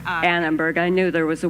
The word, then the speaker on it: Annenberg: Did I say that right? That's not quite right either, did I? That's all right. Yeah, say it right. It's the Annenberg. Annenberg.